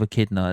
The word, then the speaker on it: echidna: I think that's how you pronounce it. Anyway, it's ECHIDNA. Echidna.